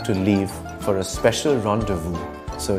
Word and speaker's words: rendezvous: Z as in rendezvous, which means appointment. I'm the English nut and I have to leave for a special rendezvous, so it's bye for now.